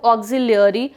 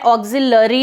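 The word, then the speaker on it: auxiliary: Please be careful, ये जो मैं वर्ड का प्रोनाउंसिएशन कर रही हूँ ये मैं बोल रही हूँ ऑक्सिलियरी, मैं ऑक्सिलरी नहीं बोल रही हूँ. इट इज ऑक्सिलियरी.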